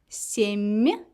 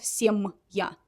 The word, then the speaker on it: семья: Семья. The same idea. We pronounce m, m instead of m, m, m, m. The same position of my tone in the mouth. Семья, not семья.